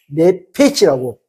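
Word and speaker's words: נֶפֶשׁ: 히브리어로 네페치라고 발음됩니다.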